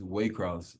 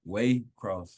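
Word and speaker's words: Waycross: say it for us it's Way Cross um Way Cross like way in the cross um it's a small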